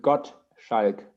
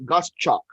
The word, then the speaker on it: Gottschalk: yes it's german and you pronounce it got sheik so just split it up in god an s in the middle it's like yes yes scotch electric school correct okay because the filipinos have been uh uh pronouncing against us gust chalk i i go by